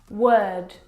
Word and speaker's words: word: word world and work now you're probably mispronouncing these words because you are looking at the o.r and you're trying to pronounce the vowel sound or like in door but this is incorrect the vowel sound is actually as in her work world word this is your